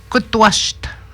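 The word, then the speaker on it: kutuasht: Et puis, kutwasht. Il s'écrit de même, il se prononce kutwas.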